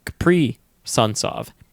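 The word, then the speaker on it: Kaprizov: saying koreal caprisoft um it's caprice of like pre suns thank you to the youtube commenter that pointed out and you gave us the great analogy of capri sun so capri sunsov that's how you say it okay i have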